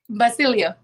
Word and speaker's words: Basilio: i'm saying it right basilio but ba with a b yeah basilio yeah so